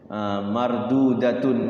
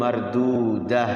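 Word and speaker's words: مردودة: Fathatain tamarbutoh itu kalau wakaf semua tantin tuntin sukunnya ketika wakaf dibaca huruf H, hamzah sukun. Mardudatun, mardudah ya. Apalagi qaryatun, qaryah gitu. Lailatun, lailah gitu.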